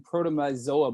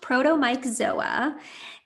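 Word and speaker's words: Protomyxzoa: but we have not heard about the co-infection proto-mazoa before which i'm not pronouncing correctly can you tell us more about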